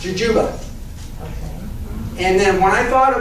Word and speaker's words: jujube: It's technically pronounced Jujuba.